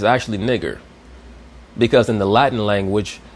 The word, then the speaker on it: Niger: verse, will be pronounced nigger because the I will be pronounced like an E sound and the E will be pronounced like an A sound.